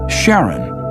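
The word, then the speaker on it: Charon: in Greek mythology but preferred to pronounce it Sharon more like his wife's name Charlene from the Motions of Pluto and Sharon astronomers could work out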